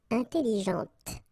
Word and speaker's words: intelligente: Okay, intelligente. Same thing here. When you put this well, actually you will pronounce the final T, okay, but you don't pronounce this here.